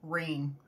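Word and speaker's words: Reyne: another good book series opal rain I think is how you say your last name it's r-e-y-n-e that's a definitely a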